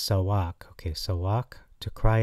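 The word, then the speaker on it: צעק: eight one seven no not socks like you wear uh it's actually pronounced sawak okay so walk to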